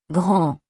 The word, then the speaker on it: grand: Grand. The D is silent.